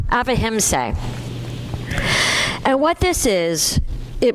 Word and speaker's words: ahimsa: in, and it's called avahimsa. Avahimsa. It's spelled Ahimsa, but it's pronounced, the way I looked it up is it's pronounced avahimsa.